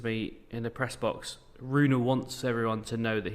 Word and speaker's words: Rune: Interesting, the Holger Rune, have to pronounce the E, we now know this, stuff.